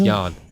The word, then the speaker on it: Ian: was Ian m is Yan oh it spelled like Ian but it's pronounced Yan oh um so if